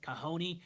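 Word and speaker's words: cajón: It's spelled C A J O N with like a wicked like accent mark, too. Yeah. I spelled it I I spelled it kahone the way I did do because at the beginning I thought well I probably will get a few stragglers of people searching for the drum because I spell it the way it sounds.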